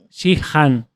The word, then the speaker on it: Sheehan: Y se pronuncia Shihan.